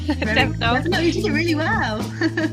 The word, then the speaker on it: Devonald: I have Emily, let me see if I can pronounce this correctly, Devonald? No? Yeah, correct. Devonald, you did it really well.